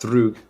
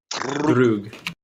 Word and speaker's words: Drug: It's pronounced Drug. How is it pronounced? Say it again. Drug. Do you roll the R in your language? Just a little. Yeah. Okay. Drug.